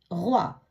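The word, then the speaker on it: roi: இப்படியாக ஓ இ என்ற சத்தம் வரும் பொழுது உவா என்று உச்சரிக்கணும்.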